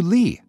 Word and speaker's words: Leigh: was also an actress she however reverted to janet lee and changed its pronunciation to lee she re-enrolled at the